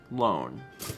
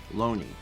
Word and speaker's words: Lone: It's L-O-N-E, which to an American speaker would be like loan, or an English speaker. Oh, Loan-E. Okay. Loney. Neat.